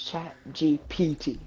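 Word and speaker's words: ChatGPT: don't know why br is chat GPT not TP I know I always say it wrong bro I've been I've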